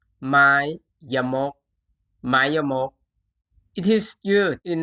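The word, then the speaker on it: ไม้ยมก: This symbol is called Mayamok. Mayamok.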